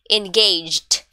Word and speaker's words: engaged: way for this one since it's in past tense instead of pronouncing it in three syllable try to do it in just two engaged engaged in yeah all right next